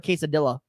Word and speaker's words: quesadilla: favorite snack is nachos or and or a quesadilla is that how you say it that is